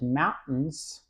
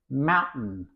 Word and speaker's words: mountain: Mountain. Mountain. You cannot hear T.